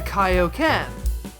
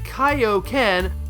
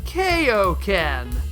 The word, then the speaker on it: Kaio-ken: took one look at Kaio-ken, almost certainly did not make the connection as to what it meant, and decided it was pronounced “kay-oh ken.”